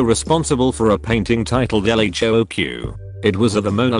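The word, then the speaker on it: L.H.O.O.Q.: and a wee goatee the letters in the title when pronounced in french sound very like she has a hot ass literally yes though it's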